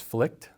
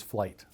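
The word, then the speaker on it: Flygt: And if you're in the US, it's flight. Fleck. You pronounce the G. Yeah. Flight flight. Flight. F like flight. Like I'm taking a flight.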